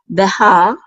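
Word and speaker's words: בָּהָר: And then we have a hey with a patach, which says ha, and then a resh, and so that completes the syllable. So we say ha, Behar, and this means mountain.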